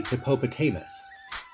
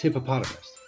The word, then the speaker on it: hippopotamus: Like, you wouldn't say hippopotamus. It sounds weird. It's hippopotamus.